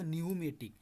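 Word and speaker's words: pneumatic: তো এখন দেখেন হচ্ছে নিউমেটিক হইব, পিয়ের উচ্চারণ আছে না, এখানে কি পিয়ের উচ্চারণ হইব না, উচ্চারণটা হইব নিউমেটিক, কিন্তু আপনি যখন লিখবেন,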